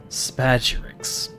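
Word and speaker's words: spagyrics: But now we know, and hopefully I'll remember that whenever we get to the next mentioning of Spagyrix.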